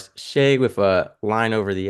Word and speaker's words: Sha: me a note and he called me Shay and he wrote out SHA with a line above the A. And way back then, we learned phonics, which was a long A over a line above